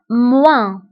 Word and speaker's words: moins: في عملية الطرح كنستعملو ناقص أو moins moins moins. فانتبهوا بالنسبة للموا كنكتبوها بأس في آخر الكلمة ولكن لا تنطق moins.